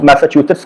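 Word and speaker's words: Massachusetts: का नाम सुना होगा, इसको प्रोनाउंस मैसाचुसेट्स कहते हैं, किसी और तरीके से मत प्रोनाउंस करिएगा।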